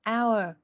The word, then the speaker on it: hour: Từ này phải nhớ là âm H là âm câm, thế nên là mình không đọc chữ H ở đây, mình đọc là hour thôi.